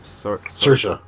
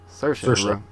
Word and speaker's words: Saoirse: Rampling for 45 Years, and how did we pronounce her name? Saoirse. Saoirse Ronan for Brooklyn.